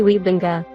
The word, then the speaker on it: Wybanga: name I know that his ancestors came from Friesland or Groningen in the Netherlands, so the correct way to pronounce it would be Gary Wybanga.